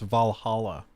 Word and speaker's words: Valhalla: much and you still don't know that it's pronounced Valhalla so this guy doesn't know how to pronounce